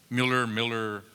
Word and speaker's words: Mueller: But the first one that comes to mind is Mueller in Austin. Miller, depends on whether you're from Austin or not, how you pronounce it.